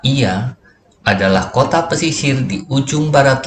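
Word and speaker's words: Oia: serta kapal telinga Oiya yang dalam ejaan Yunani dibaca Ia adalah Kota Pesisir ujung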